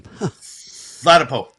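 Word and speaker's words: Ladapo: Flatapo.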